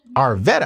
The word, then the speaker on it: Arvetta: Am I saying that correct, sis? Yes. Arvetta. I said it right.